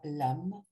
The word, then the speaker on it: LAM: Do, donc A, et le mantra LAM, prononcé avec la langue collée au palais.